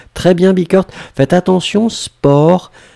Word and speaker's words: sport: Faites attention, sport, on écrit S-P-O-R-T. Hein, on ne prononce pas le T, mais on écrit quand même.